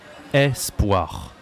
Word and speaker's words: espoir: En français, ça se dit espoir. D'accord? C'est pas E, c'est E. Espoir. Ça s'écrit avec un E. Espoir.